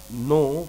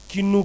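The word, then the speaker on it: know: subject है उसके बाद नो के एन ओ डब्लू नो एक जमाना था मैं इसको किन्नू पढ़ता था so don't do this okay don't pronounce like this कहते हैं नॉलेज इज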